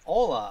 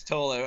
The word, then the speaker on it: Thola: I almost pronounced the name with the T being silent and called your name Ola on the air. I almost did that. Here's a new Yeah. band, Ola. Yeah, But it's Tola.